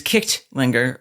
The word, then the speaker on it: Kightlinger: And I've also found out, I think it was supposed to be Kicht, but they used to make the G's like that. So it really is Kichtlinger, which is, of course, churchgoer.